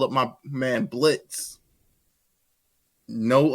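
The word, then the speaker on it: Blitzø: call up my man Blitz no o and we gonna get silent exactly we don't have to tell the people the O is silent because we killed the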